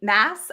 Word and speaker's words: Maas: Mass, I think is how you say her last name, and they're just so fun.